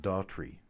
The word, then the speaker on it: Daughtrey: same to other people so my name is just Daughtry it's very simple to pronounce it's very simple to say but if you look